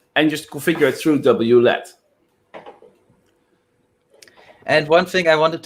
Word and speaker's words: WLED: I pronounce it WLED, so each letter separately, but you're fine to pronounce it whatever way you like.